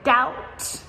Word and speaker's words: doubt: There's a lot of silent B's as well. For example, in the word like debt or doubt, both of these have silent B letters.